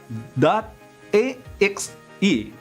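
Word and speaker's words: .exe: to your computer in xc format pronounced dot a x e this is a standard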